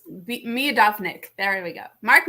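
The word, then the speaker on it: Miodownik: knew how to say this a minute ago me adopts me adopt nick there we go mark me a dominic um so mark mudognik is a professor um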